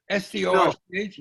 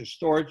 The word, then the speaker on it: Storch: The K is pronounced in Europe as Ch. Here it is Ch.